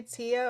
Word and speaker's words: Teaya: again I'm so sorry you can say Tia or you can call me T it doesn't matter T I wanted to